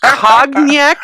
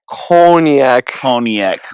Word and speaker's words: Cognac: the way I pronounce cognac is very wrong. I have not listened to enough rap songs. I know. So, how do we pronounce your podcast name? Cognac Corner. Cognac. Like Coney Island, almost.